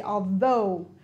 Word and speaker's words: although: although die and police notice that in the word although i don't pronounce the g i say although the tongue has to